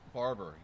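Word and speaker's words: Barbour: Is that the right way to say their last name? Barber. The Barbers. B-A-R-B-O-U-R. Barber.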